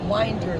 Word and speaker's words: Winder: They pronounce it Winder. Winder. It's really Well, hard in to Utah, remember. it's pronounced Winder. So Yes, you're right. if you're in Utah, it's Winder. If it's Georgia, it's Winder.